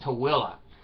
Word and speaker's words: Tooele: Now, there's a word that's spelled Tooele. Utah. It's pronounced Tooele.